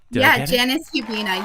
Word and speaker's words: Janis Hubina: Did I get I'm sorry, I think I mispronounced your name at the beginning. Can you give us your full name, please? Janis Hubina.